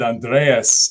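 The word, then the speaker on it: Andrés: for having me on Andres uh I know I mispronounced your name last time when we were you said it right I thought I said Andreas uh last time that's still right okay okay cool but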